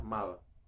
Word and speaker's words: mall: Bahasa Inggrisnya adalah mall, tempat belanja. Tulisannya adalah mall, tapi dibaca mall.